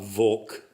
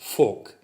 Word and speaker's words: Volk: You notice that I'm coming a little closer to the correct German pronunciation because the V in that word is pronounced as an F. Not Volk, but Volk.